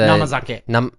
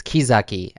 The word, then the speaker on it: kizake: Namazake. or sorry, I pronounced that incorrectly. It's kizake, kizake actually. Kizake. It's not namazake. No, it's the same kanji, but it's pronounced ki. Kizake.